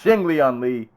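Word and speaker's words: Li Jingliang: Lee Lee Ji Young Jing Jack said it wrong he's Ching Lian Li we've praised him a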